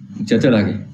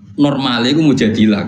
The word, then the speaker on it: Mujadilah: Mujadalah, dalam surat Al-Mujadalah. Sebenarnya, seharusnya Mujadilah, saudaraku. Namun karena tempat ini umumnya dikenal sebagai Mujadalah, ikuti saja keramaian agar kamu termasuk di antara penghuni Surga.